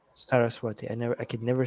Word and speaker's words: Saraswati: Saraswati. Saraswati.